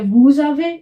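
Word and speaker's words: vous avez: इसका मीनिंग हुआ वी हैव फिर क्या है वूज आवे इसका मीनिंग हुआ यू हैव मतलब प्लूरल वाला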